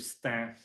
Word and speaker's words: Stains: to this cool project in the city of Stan spelled stains pronounced stamp really interesting city of Stan where there's like a huge huge population of